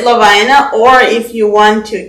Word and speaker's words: Lovina: So the correct pronunciation is Lovina.